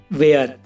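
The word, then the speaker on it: where: रहता है for example वेयर और इसमें देख लो गाइस डब्लू के बाद एच है तो ये एच साइलेंट है ऐसे और भी एग्जांपल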